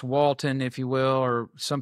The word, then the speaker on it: Woulton: spell that because it's a, um, it's it's pronounced Walton, if you will, or some people say Walton because the way it's spelled, but it's wo t o n g r o p.